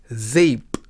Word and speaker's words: zeep: sound in Dutch is somewhat similar to the a sound in the word say in English we will look at